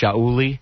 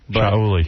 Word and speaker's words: Shuli: It's spelled with an A, so it's pronounced Shauli. Shauli.